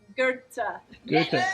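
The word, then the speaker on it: Goethe: americans have long fellow and the germans have gerta very good i had to make sure with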